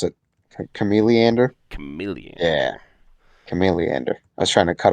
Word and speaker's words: Chameleander: one more action hmm um how do you pronounce it chameleander chameleon yeah chameleander i was trying to cut off the lead